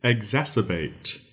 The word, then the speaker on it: exacerbate: Our first word is exacerbate. Exacerbate. That is spelled E X A. Exa C E R sir bait. B A T E.